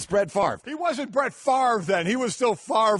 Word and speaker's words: Favre: up the name Brett Favre oh yeah I mean how you can have a word that has spelled FA VRE and pronounce it Favre it still doesn't make sense that's Ben Stiller exactly